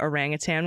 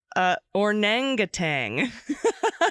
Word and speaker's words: orangutan: I tried saying orangutan one night, and it came out ornangatang.